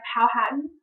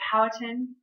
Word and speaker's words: Powhatan: Native Americans ruled by Powhatan, or Powhatan, you can hear it pronounced multiple ways, had lived in the area of Virginia that had been colonized by the Jamestown settlers.